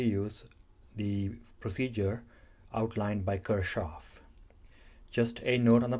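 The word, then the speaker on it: Kirchhoff: the procedure outlined by Kirchoff. Just a note on the pronunciation. Many of even my electrical engineering colleagues say either Kirchoff or Kirchoff. Those are German pronunciations of this name.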